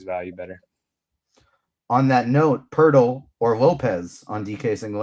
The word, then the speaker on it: Poeltl: Is it really pronounced Poeltl? Jakob Poeltl? Yes, it is. p o l p o e l t l, but it's pronounced Poeltl, like turtle.